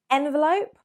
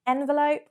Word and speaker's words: envelope: Now, some people may consider envelope a little bit more posh, sophisticated, and basically because that is the original pronunciation, it's a French word. We've taken it from the French language.